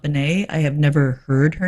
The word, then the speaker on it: Bennett: one is joan bennett i think that's probably pronounced bennett and not bene i have never heard